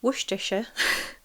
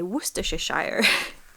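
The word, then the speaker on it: Worcestershire: Woohisha. Woohisha sauce. I love it when it's like Americans say it and they say worshshire.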